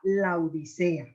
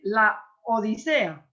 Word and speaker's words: Laodicea: nombre de su esposa Laodicea. Tenemos todos, porque a mí también me pasa, Dalia, de decir la Odisea, pero es un nombre propio, la Odisea. Yo tuve que trabajar duramente para poder pronunciarlo corrido.